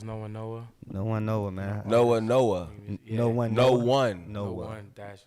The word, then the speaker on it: No1-Noah: It's No1-Noah. No1-Noah, man. No1-Noah. Yeah. No1-Noah. So what's the significance of that? Because it's different. I see it's N-O-1. Yeah. So why is it spelled like that?